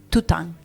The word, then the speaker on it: Toutín: tu Instagram, que es Nati Vidal Tután. Sí, Pero se escribe Toutín.